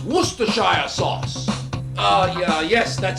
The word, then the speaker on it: Worcestershire: who just would just what just it is pronounced worcestershire sauce uh yeah yes that sauce uh use